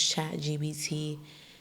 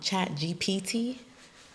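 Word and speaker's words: ChatGPT: a little hack use chat gbt I be saying it wrong chat GPT yeah use that tool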